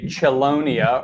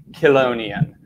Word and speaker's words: Chelonia: right now it's a word that is often mispronounced many throughout the world say Chelonia are chalo nians when you refer to turtles tortoises sea turtles and Terrapins but the correct pronunciation of this word is colognian so interestingly enough I was chatting with one